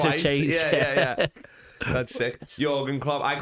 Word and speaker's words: Jürgen: I was watching something and it was Jürgen, so I was like, I don't care if you're singing Jürgen is a red, Jürgen's a red to me, lad.